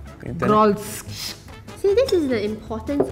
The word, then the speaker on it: Grolsch: I don't even know how to pronounce this. R or I? It's a G-I-O-L. Grolsch. Grolsch.